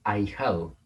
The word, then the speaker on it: ahijado: Ustedes deberían saber, y esto es algo que deben anotar, que la H intercalada no se cuenta. Hacemos como que no existe, entonces pensamos que está la A junto a la I.